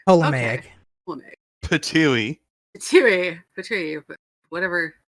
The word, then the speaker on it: Ptolemaic: That one, the P is silent. Yeah, so Ptolemaic. Ptolemaic.